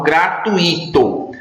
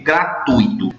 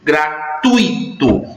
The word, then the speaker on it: gratuito: veja as pessoas falam gratuito mas a pronúncia correta da palavra e gratuito gratuito ela é uma palavra paroxítona palavras paroxítonas que terminam